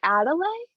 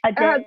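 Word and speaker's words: Adèle: She does end up like mentoring, is it Adelaide? Is that how you say it? Who? Adele? Adele. The child. Is it Adele? Okay, I didn't know because there was like a little mark above the E.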